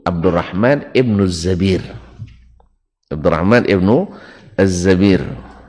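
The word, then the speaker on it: الزبير: Abdurrahman ibnu Az-Zabir ini satu-satunya tulisannya sama dengan Zubair, tapi bacanya adalah Az-Zabir. Pada umumnya Zubair ya.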